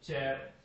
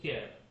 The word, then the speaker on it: char: Some people call it char, some people call it chair, I call it care, as your choice।